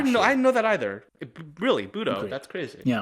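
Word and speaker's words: Bodø: I thought it was Bodto glimp. Apparently, it's Budo. So, thank you, Norway. Much appreciate. I didn't know I didn't know that either. Really? Budo?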